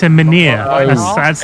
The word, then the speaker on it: menhir: It's a Mynheer, isn't it? Or- It's a menhir. Oh, That's how it's they a pronounce dude.